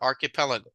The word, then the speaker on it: archipelago: This CH here sounds more like a K sound, like a K, right? So it will be archipelago.